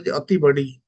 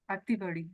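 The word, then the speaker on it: ଅତିବଡ଼ି: But here in Odisha, that is pronounced as Atibadi. Atibadi.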